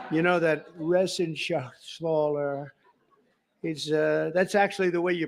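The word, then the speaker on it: Reschenthaler: And Guy Resenshathaler. You know that Resenshathaler. That's actually the way you pronounce it.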